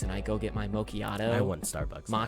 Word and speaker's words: macchiato: I go get my macchiato. I want Starbucks. now. Macchiato. It's macchiato. Sorry, I said it wrong.